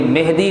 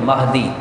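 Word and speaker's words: مَہدی: تو یہ مہدی لفظ یہ غلط ہے. لوگوں کو اس کا علم نہیں ہے، وہ اس کو غلط تلفظ کے ساتھ پڑھتے ہیں. لفظ کیا ہے اصل میں؟ مہدی، میم کے زبر کے ساتھ.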